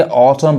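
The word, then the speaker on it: autumn: इसको क्या पढ़ेंगे? ऑटम पढ़ेंगे, ऑटम। इसको ऑटम नहीं करेंगे तो गलत हो जाएगा, ये इसलिए ऑटम पढ़ाएगा।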